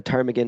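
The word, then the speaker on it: ptarmigan: about the Tagan is it comes from the Gaelic word tesan but which starts with a T and then the silent P that came later was added by early ornithologists thinking that the word was Greek this said hey if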